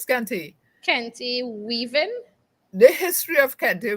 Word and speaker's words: kente: about the history of kente weaving did i pronounce that properly yes it's scanty kenti weaving the history of candy weaving is as